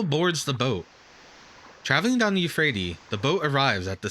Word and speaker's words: Euphrates: From here, it's easy to perceive the layout of the town of Babylon, built up around the flow of the Euphrate Euphrates.